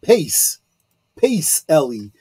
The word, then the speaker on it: Pacelli: way but that uh the C is pronounced as a CH you know uh so it's yeah exactly um otherwise it would be Pace Pace Ellie but uh yeah P